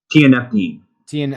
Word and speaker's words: tianeptine: tianeptine, And how do you spell that?